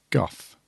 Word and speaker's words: Gough: And it was written by the Moff, and it was directed by Lawrence Goff. Goff? Go. Goff? I'm going to say that as it's spelled. I'm going to say Goff.